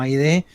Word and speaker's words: Haydee: Ha sido Aide Lenkiewicz, ¿así se pronuncia Aide? ¿Está bien? Sí, está bien, Lenkiewicz, muy bien.